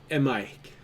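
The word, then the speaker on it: Maihk: Mike. A-M... A-I-H-K. Okay. You should Oh, pronounce what the the- first A as if it's detached from the word itself.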